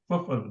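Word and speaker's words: فافعلوا: Faf'alu. That hamza is still written, you can see, but it will not be pronounced.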